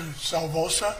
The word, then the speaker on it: Salvosa: Officer Salvosa, is that how you pronounce it? Yes, sir.